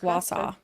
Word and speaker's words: Wausau: Pronounced Wausau.